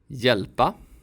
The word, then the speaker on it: hjälpa: These combinations of letters also sound like y. Djur. Hjälpa. Ljus.